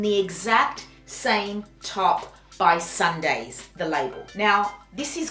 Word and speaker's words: SNDYS: And I was looking at tops and I found a top by the label Sundays. It's spelled SNDYS, and I loved it.